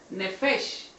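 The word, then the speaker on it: נפש: Y el alma se refiere a una palabra que también viene del hebreo arameo, que significa o se pronuncia del vocablo nefesh.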